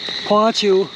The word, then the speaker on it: 朴樹: The protected tree of Hsinchu County Chinese Hackberry (phoh-á-tshiū), There are also people who pronounce "pu-shu".